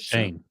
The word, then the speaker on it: Schoen: Is it Schoen? What is it? Shane. How's it not Shane? Shane? Like Shane Bacon, just Shane. It makes no sense. Spell it Shane then.